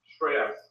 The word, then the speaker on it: Shreyas: Shreyas, if you can pronounce it. Or probably Shrey be easier. Oh, how do you spell that? S? S-H-R-E-Y-A-S. Oh, Shreys.